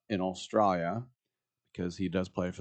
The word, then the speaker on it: Australia: And he traveled back to Melbourne, don't pronounce the R, in Australia, because he does play for the Australian national team.